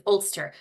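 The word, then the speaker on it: Ulster: is always helpful for people to understand the pronunciation as well so the top of Ireland in the north is olster and as I said Northern Ireland is entirely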